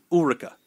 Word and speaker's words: Ulrika: Ulrika. That's how you say it.